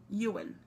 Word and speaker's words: Ewan: Ewan.